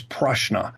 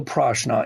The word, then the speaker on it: prashna: Now, in India, that is referred to as prashna. Prashna, spelled with a P, is divinational.